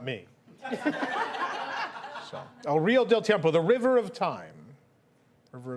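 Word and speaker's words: El Río del Tiempo: El River de Tiempo. I'm gonna give it to you. It's El Rio del Tiempo. El Rio del Tiempo. That's the next pronunciation.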